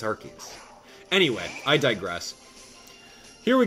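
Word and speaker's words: Arceus: he's like hey abdalah it's arus I'm like yeah it was arus but then they changed it to make it you know a little bit safer archus it's archus anyway I digress here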